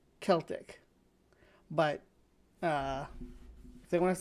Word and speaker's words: Celtic: I think that the proper English is spelled with it's spelled a K in the original language, which denotes that it should have a hard K sound. So Keltic, Celtic.